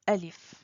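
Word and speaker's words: ألف: Bonjour, bienvenue sur cette nouvelle vidéo où on va apprendre la lettre Alif. Le nom de la lettre c'est Alif, mais elle se prononce A.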